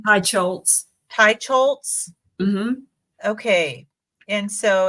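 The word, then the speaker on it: Teicholz: a healthy diet by Nina how do you pronounce her name hi chz Tai scholz okay and so it's this one it looks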